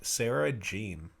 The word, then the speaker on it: Sarah Jeanne: We are here with Sarah Jeanne. I pronounced it right?